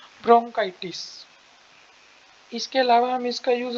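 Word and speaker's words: bronchitis: में गलत लिखी जाती है, तो आप मेरी प्रोनाउंसिएशन भी ध्यान से सुन सकते हो, ब्रोंकाइटिस।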